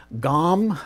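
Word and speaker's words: Gomm: Okay, this is a UK artist, Ian Gaume, I believe is how his last name is pronounced, and this is Gone with the Wind, Still in the Shrink.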